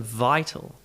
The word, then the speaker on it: vital: Same as vital. You get the I sound, the full I sound, that vowel sound, vital.